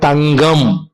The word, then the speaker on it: தங்கம்: இப்ப நல்லா பாருங்க, கா தங்கம் கம், மெல்லெழுத்தை அடுத்து வரும் பொழுது ஜி போன்று ஒலிக்கின்றது, மெல்லெழுத்து. இப்ப நல்லா பாருங்க, தங்கம். இப்ப தா இங் கா கா கா, நல்லா பாருங்க, தங்கம். இப்ப நம்ம வந்து அந்த இடத்துல கா, அதோட உண்மையான உச்சரிப்பு கா தான்.